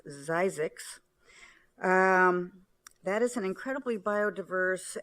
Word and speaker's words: Zzyzx: Desert Studies Center in, and I'll spell it first, ZZYZX, which is a community in the Mojave National Desert. I believe it's pronounced Zizix.